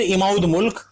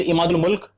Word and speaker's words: इमादुल मुल्क: में बादशाह आलमगीर द्वितीय, वजीर इमाउद मुल्क, फिर वापस मैंने गलत प्रोनाउंसिएशन की, ठीक है, वजीर इमादुल मुल्क और मीर बख्शी नजीबुद्दौला,